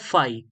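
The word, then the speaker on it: φ: इसको हम बोलते हैं फाई। या स्पेलिंग जो भी है बट फाई बोलते हैं इसको।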